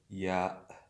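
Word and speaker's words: ي: The letter is called ya, but the pronunciation, the sound of this letter is E.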